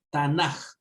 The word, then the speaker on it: Tanaj: ocasiones puede estar una j y no una k al final por si acaso tanaj y no tan a por qué Porque cuando tenemos la casa segunda es fuerte dentro se menciona en la pronunciación como una J Así que si por